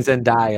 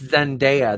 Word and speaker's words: Zendaya: can eat my ass i've been saying zendaya and they're like it's zendaya there's videos on how